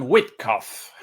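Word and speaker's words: Witkoff: Eh, eh, yo siempre lo llamo Witkof con la pronunciación en alemán, pero en inglés lo llaman Whitkof.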